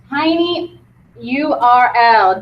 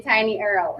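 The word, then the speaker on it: TinyURL: to a site called tiny URL don't say it like Lisa and say tiny Earl okay okay it is called tiny URL this allows you to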